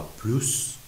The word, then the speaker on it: plus: اینجا وقتی که من میگم پول بوا پلوس کموا، بعدش میبینید که اومده، پس حتما اس رو باید تلفظ بکنیم. به طور کلی اینجوری تو ذهنتون بسپارید، فعل به اضافه پلوس اس تلفظ میشه، پلوس دو به اضافه اسم اس تلفظ میشه.